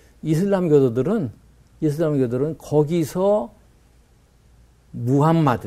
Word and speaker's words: 무함마드: 사람이에요 원래 아랍 사람이잖아요 아랍의 제 발음은 무함마드 무함마드 무 요즘 사진 다